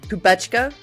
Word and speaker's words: Kubecka: And with me today is the amazing, I know I'll say it wrong, Kubecka? No. Kubecka, or in Kubecka, English, they say Kubecka.